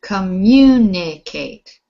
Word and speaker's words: communicate: right uh alejandro communicate the stress is on fourth syllable not the fourth communicate you said it right so you've put the stress in the right spot communicate not the last syllable communicate so it's the